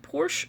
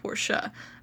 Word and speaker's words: Porsche: I've heard people in America pronounce it both ways, but you can pronounce it Porsche or you can pronounce it Porsche. I was taught to pronounce it Porsche.